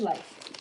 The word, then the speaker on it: Leif: Is it Leif or Leaf? It is Leif.